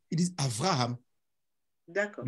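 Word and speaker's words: אברהם: Les Hébreux ne disent pas Abraham, ils disent Avraham. D'accord. Le B, ils le prononcent V à certains moments.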